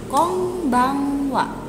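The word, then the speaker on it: こんばんは: dalam bahasa Jepang itu Kombang Wa Kombang Wa huruf N apabila ketemu huruf b disini bisa dibaca m jadi Kombang Wa bisa dibaca com Bang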